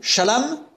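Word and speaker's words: שָׁלוֹם: Shalom, parce que ça s'écrit légèrement différemment, c'est pas tout à fait la même lettre, mais ça se prononce pareil.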